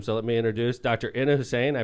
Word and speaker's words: Ina Hussein: Ina Hussein. I pronounced that right?